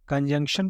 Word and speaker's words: conjunction: अब कंजंक्शन को कैसे पढ़ेंगे आप? CON, कन, JUNC, जंग, TION, शन, कंजंक्शन, कंजंक्शन। हिंदी में देख लीजिए, आपको इजी हो जाएगा समझने में।